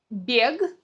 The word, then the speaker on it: бег: Бег от слова бегать, говорим бег, бег.